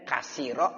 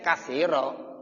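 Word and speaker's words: كثيرا: Nah kalau sekarang udah enak, oh ada titiknya 3, ya bacanya kasiro. Kalau titiknya 1 di bawah bacanya apa? Ya kabiro.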